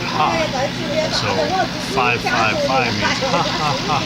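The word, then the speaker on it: ห้า: So if you ever see an Asian person on Facebook that types 5555, because 5 in Thai and in Lao, I think, right? Yeah. You pronounce it ha.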